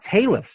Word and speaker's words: Talif: It's not Talif's Journey, then it's Talif's Journey.